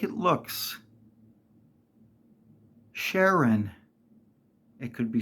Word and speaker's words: Sharen: name is pronounced Sher just like it looks Sharon it could be spelled with an e n or an o n it's pronounced Sharon not sharen I have heard multiple YouTubers say well we